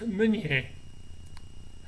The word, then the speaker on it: Meunier: My nom de famille, my family name, Meunier, is actually correctly pronounced Meunier. I'm not sure who Americanized it along the way, but I suppose that they felt that it was easier to pronounce.